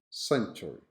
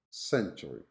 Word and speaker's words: century: This word has only 3 syllables in American. Century, century. Now in British, although you can hear people saying century, century, the most common pronunciation is century, century, having only 2 syllables.